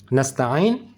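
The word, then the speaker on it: نَسْتَعِين: Jika sudah bisa, coba kita praktek pada kalimat nasta'in. Pelan-pelan, kasihkan, berikan hak nas, berikan hak huruf ta, berikan juga hak huruf ain. Nas tidak langsung disambung dengan ta'in.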